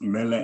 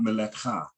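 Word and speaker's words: מלך: So it just Melek. Melek. Not Melekha. Melek.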